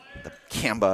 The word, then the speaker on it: Kamba: his name pronunciation right, to emphasize the Kamba at the end there.